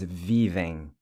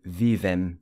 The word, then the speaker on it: vivem: I know it's tempting to say vivem where your lips touch at the end, but it's vivem. Lips never touch at the end.